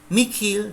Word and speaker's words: mihi: Kalau ketemu huruf H dalam mihi dan nihil menjadi mikil dan nikil.